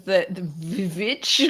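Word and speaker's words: The VVitch: Okay, the next one is The Witch in 2015, but I think this is the Witch one that you were talking about, Sharad.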